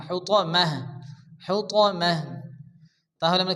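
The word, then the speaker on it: حُطَمَة: হবে হায় পরিণত হবে হুতমা হু তা হবে না এখানে ত জবর ত আরবিতে আটটি অক্ষর আছে যে আটটি অক্ষরের উপরে জবর আসলে অকার উচ্চারণ হয় এখানে ত জবর ত হবে হুতমাহ হুতমাহ তাহলে আমরা কি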